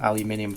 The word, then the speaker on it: aluminum: So, I've got some uh tin foil, some aluminum foil, which is the correct way of pronouncing it, and I'm going to try and